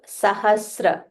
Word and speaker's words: sahasra: Yuga, Sahasra. Sahasra. So Sa is half and Ra.